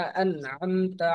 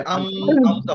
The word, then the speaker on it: أنعمت: আমতা আলাইহিম, এরকম হবে না যে আম আমতা হবে না, আন আমতা হবে। আমতা, أنعمت আমতা, আমতা আর আইনটা উচ্চারণ করতে হবে গলার মাঝখান থেকে, ঠিক আছে?